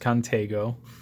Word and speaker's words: Contego: So it's 810 in black, non-serrated, and I'm going to call it the Contigo for the rest of this video, but it could be pronounced Contego.